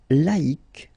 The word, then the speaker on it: laïque: Yes, you need to take away the C and then put QUE, but then phonetically, if you pronounce it, you pronounce it exactly the same way.